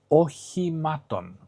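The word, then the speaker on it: οχημάτων: Again, you see both O's, which are pronounced the same. You see another E, which is the eta. It's an E, just like isodos. So all these E's are pronounced exactly the same. So you have ochimaton. And ochimaton, ochima, is a vehicle.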